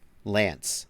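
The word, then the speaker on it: LAANC: How do you pronounce L-A-A-N-C? Lank? I don't know the answer to that, actually. Lance. Lance, says Noah Reinhardt.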